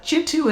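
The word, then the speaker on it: Kintu: a family curse uh jitu is spelled k i then T you and that book took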